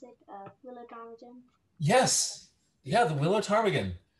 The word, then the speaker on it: ptarmigan: Is that how you pronounce it? Willow ptarmigan?